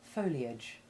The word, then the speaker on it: foliage: letter I is silent, except in foliage, which keeps the I sound and provides a good example of the difference between this and the short A4 sound. Now you say those examples of words with unstressed short AGE endings.